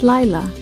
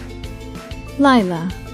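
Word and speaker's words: לילה: The third and final Hebrew word that we have for you today is Laila, and it means night in Hebrew. Now you try and say it. Laila.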